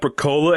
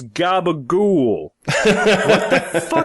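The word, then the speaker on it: capicola: up sounding French Canadian it's not caola it's Gaba goul is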